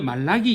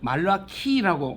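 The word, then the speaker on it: מלאכי: 나의 메신저다이 말로 악기 그리고 우리는 말라기 이래 되지만 말라 키라고 말라 키입니다 키 말라 키가 있습니다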